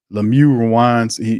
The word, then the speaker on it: Lemieux: Shane Lemieux rhymes with LePew. The guy, I'm sorry, man. Lemieux he reminds me of Pepe Le Pew.